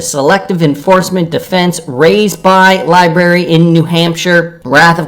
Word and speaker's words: LBRY: SEC files request to file Sir reply regarding motion to strike, citing the SEC versus Library decision, or Libry. I keep forgetting how that company is pronounced, LBRY, decision in which